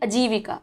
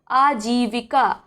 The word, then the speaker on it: आजीविका: तो बहुत लोग बोलते हैं अजीविका, अजीविका गलत है। सही क्या उच्चारण होगा, आजीविका, बड़ा आ, जा में बड़ी की मात्रा और वा में छोटी की मात्रा और का में बड़िया की मात्रा या बड़ा का, ठीक है, आजीविका।